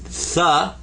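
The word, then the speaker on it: ثاء: then you can say tha for 3. And that's the as in with. It's real light. 3 with. It's a very light TH sound.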